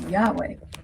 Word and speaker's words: Yahweh: the Old Testament is Yahweh, but it's spelled without vowels, so it's YHWH. Now these letters make up the exact sound of a breath, where Yah is the inhale and Weh is the exhale.